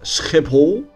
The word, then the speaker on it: Schiphol: Oh, and by the way, did you know that Schiphol is actually pronounced as Schiphol in Dutch?